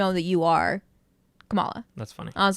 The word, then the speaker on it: Kamala: it's Kamala yeah okay so like Kamala Harris yeah okay exactly word for some reason I thought it was komala no are we sure we're